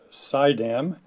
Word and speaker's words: Suydam: these houses one of my modeling friends suggested that you pronounce the manufacturer as sideam so uh I'll go